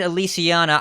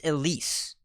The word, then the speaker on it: Elise: So you said Elysiana. I think you had too many syllables. It's Elise.